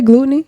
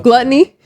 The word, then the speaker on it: gluttony: how do you say gluteny what how gluttony gluttony is uh like glut I was like wait